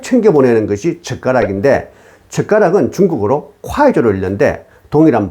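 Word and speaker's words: 筷子: 중국의 결혼 혼수 중에 신부 쪽에서 신랑 쪽으로 꼭 챙겨보내는 것이 젓가락인데, 젓가락은 중국어로 콰이저로 읽는데 동일한 발음인 콰이저는 자식을 빨리 얻다는 뜻으로 아이를 기원하는 상징적인 의미로 젓가락을 챙겨보냈던 것입니다.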